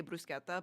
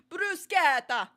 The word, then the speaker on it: bruschetta: know what's funny is I do pronounce words correctly. Like if they're like I say brusqueta, but I don't do bruseta. I just say I just want the brusqueta.